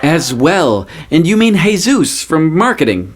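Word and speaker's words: Jesús: well and you mean hey-zeus from marketing right it's pronounced hey-zeus a real latina would know this jj's I am latina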